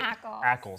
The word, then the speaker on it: Ackles: Am I pronouncing his last name correctly? Soldier Boy? Ackles.